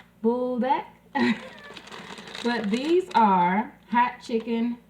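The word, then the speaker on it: Buldak: are the noodles and i believe it's pronounced bulldog it's b-u-l-d-a-k if i'm pronouncing it wrong you can correct me down in the comments bulldog bulldog but these are hot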